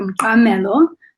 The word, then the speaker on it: Mqamelo: My name is Mqamelo. It's got a click there.